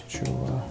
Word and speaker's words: Chuo: How do you pronounce Chuo?